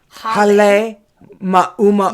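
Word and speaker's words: Halemaʻumaʻu: She resides inside the Halema Uma'u. No, try again. Hale ma'uma'u. Oh, okay. Hale Ma'uma'u. Okay, so it's two words. It's hale, which means house, Hale.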